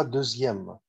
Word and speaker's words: deuxième: Deuxième يعني الثاني. زودنا ايه على الاو؟ زودنا ايام وبننطقها دوزيام. دوزيام دي للماسكولين والفيمينا.